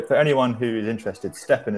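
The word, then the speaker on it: STEPN: But so for anyone who is interested, Steppen is spelled S-T-E-P-N, and it's worth checking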